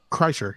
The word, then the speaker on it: Kreischer: Oh, that's how you pronounce his name? Kreischer, yes.